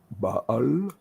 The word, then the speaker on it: Baal: Baal and well, I had to, so I had to learn all these funny-looking things.